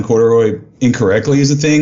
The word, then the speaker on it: Corduroy: But Corduroy is how you spell it, 3 syllables.